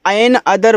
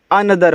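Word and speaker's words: another: तो इसको एन अदर मत पढ़िएगा। एन अदर पढ़ोगे तो आपका ये गलत हो जाएगा। इसको अनदर पढ़ते हैं। ऐसे अनदर अनदर।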